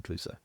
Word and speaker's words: Cluso: So yeah, it's spelt differently, obviously, but it's Inspector Cluso.